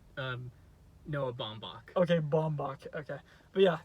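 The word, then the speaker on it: Noah Baumbach: did pretty good I don't know how to pronounce his name but it's um Noah bombach okay bombach okay but yeah they did a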